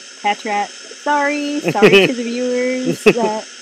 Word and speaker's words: Patrat: Fairy, Energy, Paltrat. Patrat. Sorry to the viewers that I don't know how to pronounce them.